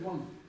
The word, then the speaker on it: དབང: Если здесь исключить эти два элемента, должно читаться как ам. Тем не менее, тибетцы читают ван.